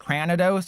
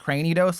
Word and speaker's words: Cranidos: Did you know it's not pronounced pronounced cranados, it's pronounced cranidos, like cranium cuz I saw that post circling around Twitter about and thank you Rebulon.